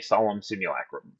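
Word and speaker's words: Solemn Simulacrum: That's a good oldfashioned sad robot, aka solemn simulacum.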